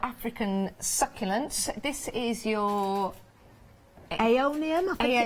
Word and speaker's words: Aeonium: Aeonium, I think it's pronounced. Yes, Aeonium, which is a beautiful succulent, normally in a